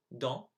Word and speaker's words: dans: So here are the 8 words I mispronounced. So I should have said the second time traverser, dans, tout, Afrique, chameau, serait, génial, nul.